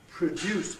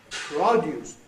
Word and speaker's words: produce: And produce had produce, change of vowel from schwa to o again.